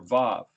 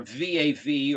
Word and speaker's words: vav: is the sixth letter v a v or i spell it uaw because it sounds like both a u and a w some people don't like